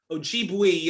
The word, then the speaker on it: Ojibwe: me if i'm if if i'm about to butcher the name but you're but you're a member of the of the ojibwe uh people of uh of uh of the